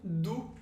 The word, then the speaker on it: d'où: Você percebeu que tem diferença entre o U de tu e de d'où? Então para dizer de onde, a gente tem d'où, que é exatamente o mesmo som do U no português.